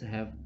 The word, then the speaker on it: ح: This Ha is pronouncing from the middle throat, and this Kha is pronouncing from the upper throat.